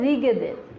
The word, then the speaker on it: ঋগ্বেদের: ঋগ্বেদের, এখানে একটা অন্তস্থ ব আছে গয়ের নিচে, অনেকে ঋগ্বেদের উচ্চারণ করে, আসলে এটা হবে হচ্ছে ঋগ্বেদের, এই ব অন্তস্থ ব, যায়ের উচ্চারণ নাই।